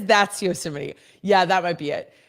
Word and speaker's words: Yosemite: Yeah, Steve says Yosemite.